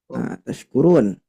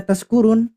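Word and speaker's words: تَشْكُرُونَ: Jadi tashkurun pakai sin biasa, Bapak Ibu sekalian. Mabuk. Iya, artinya jadi apa? Mabuk. Mabuk.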